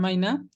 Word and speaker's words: Meynert: el texto theodore maina así lo busque y encontrar su pronunciación en alemán y según esto se pronuncian vaina él tenía 58 años